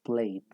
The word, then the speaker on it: played: Y en el resto de casos, pues digamos que se pronuncia, pues hay dos maneras, pero para hacerlo más sencillo, la pronunciación sería, en esencia, omitiendo la E.